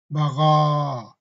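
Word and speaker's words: بغى: But we're not pronouncing ya, we're pronouncing the alif. Bagha.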